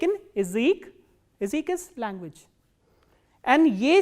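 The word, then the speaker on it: язык: e, like in word Ezek, Ezek. As you can listen, that ya here is not pronounced as ya, but e, Ezek. Why? Because this ya is in an unstressed position.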